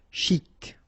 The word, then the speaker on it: chic: Okay, you pronounce the final C and then CH together. Sh. Chic. De banlieue.